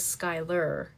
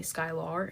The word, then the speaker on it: Skyler: Um, my name is Skyler and people will always say because I have a R instead of ER, they call me Skylar and I'm like, "No, it's Skyler even though it's an A."